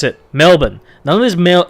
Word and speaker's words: Melbourne: really bad habit of calling it Melbourne or male born its Melbourne Melbourne Melbourne drop the are and just say Melbourne almost like silent art treat it like a silent are you know how those